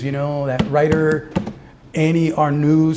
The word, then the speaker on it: Ernaux: those strange things, you know, that writer Annie Ernaux said uh Ernaux, like my friend sucks. What's her pronounce her last name?